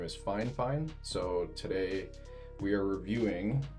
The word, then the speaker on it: FiFine: And I've been mispronouncing their name the whole time. It's FiFine, so I thought it was FiFine or FiFine or something like that.